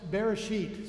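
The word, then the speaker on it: בראשית: in the Bible and it's pronounced Bereshit so you can say it with me say you could say Ebru here we go Bereshit with a hard th Bereshit Bereshit means literally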